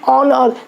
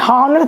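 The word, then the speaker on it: honour: लेकिन कुछ और भी हैं जैसे कि ऑनर, जहाँ पे एच साइलेंट है, जैसे हॉनर नहीं पढ़ते ऑनर, तो ओ प्रोनाउंसिएशन होने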